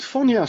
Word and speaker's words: Phonya: my first question is is how do you pronounce it it's FIA f is okay at the end of 2023